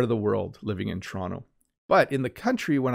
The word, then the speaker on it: Toronto: toronto and i like walking along notice i pronounced so when i say toronto slowly it sounds like that but i really usually just call it toronto so let me let me use my normal